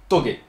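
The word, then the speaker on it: tōge: Illégales, bien évidemment, mais on verra aussi apparaître un petit de course bien spécifique, qu'on appelle Toge. Oui, ok, je sais, ça s'écrit touche, mais ça se prononce Toge.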